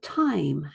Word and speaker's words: time: The word time has an E on the end, but it's silent. We don't say that E, therefore there's no E sound in the phonetic script.